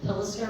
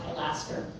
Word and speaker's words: pilaster: That's called a um pillister or pilaster. It's pronounced both ways.